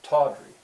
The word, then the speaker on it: tawdry: So I'd underline it, and I'd say, all right, who can hear what's stressed? The first syllable, tawdry. Again, sometimes the students couldn't hear it.